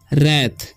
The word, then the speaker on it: wrath: उसी तरीके से WRATH है, तो इसे पढ़ते हैं हम रैथ, ठीक है, W साइलेंट है, ठीक है।